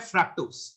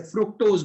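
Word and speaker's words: fructose: इनमें से एक है ग्लूकोज और एक है फ्रक्टोज, and this is the actual pronunciation फ्रक्टोज। कुछ स्टूडेंट इसे फ्रुक्टोज बोलते हैं, फ्रुक्टोज नहीं फ्रक्टोज, ग्लूकोज एंड फ्रक्टोज।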